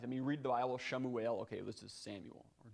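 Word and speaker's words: שמואל: hard to recognize i mean read the bible shamu ale okay this is samuel or daawith well this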